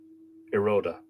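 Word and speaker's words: Ioruaidh: It's spelled Iorudhe, which I imagine looks like an Irish word. Euroia. But apparently it's pronounced much more simply, which I've forgotten already. Iroda.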